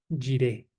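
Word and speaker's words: יראה: Es básicamente la palabra hebrea jiré, jiré, ¿ok? Jiré, lo voy a escribir para que lo tengan. Se escribe con Y, jiré, ¿ok?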